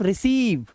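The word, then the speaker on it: receive: शुरुआत में बच्चों कि किसी भी वर्ड के लास्ट में अगर ई होगा आप उस ई को नहीं पढ़ेंगे। उसे इग्नोर करेंगे। ठीक है? तो डू not focus on this particular letter E which is इन the last of this word. ठीक है? तो इस पढ़ेंगे सिर्फ रिसीव कंसीव डिसीव। तो लॉन्ग ई का साउंड है। लॉन्ग व साउंड।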